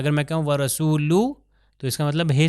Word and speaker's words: وَرَسُولُهُ: تلفظ اور آخر میں وَرَسُولُهُ ہا کا تلفظ صحیح طریقے سے آنا چاہیے. اگر میں کہوں وَرَسُولُهُ تو اس کا مطلب ہے سنائی نہیں دے رہا.